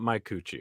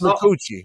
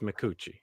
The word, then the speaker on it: McCucci: It's not Mike Cucci, okay, guys? It's McCucci. What did I say? Oh my God. Not my Cucci, it's McCucci. Easy.